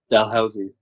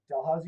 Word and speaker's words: Dalhousie: the white school or unit dal i can't pronounce that how do you say it dalhousie dalhousie university in halifax uh are you are you